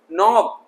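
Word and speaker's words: knob: है तो जहां जहां ग्रीन डॉट्स हैं वो साइलेंट करना है। जी हाँ, निटिंग बुनना, कुछ भी बुनते ना स्वेटर वगैरह, निटिंग करना। नॉब, गोल सा हैंडल होता है दरवाजे में, उसे नॉब कहते हैं।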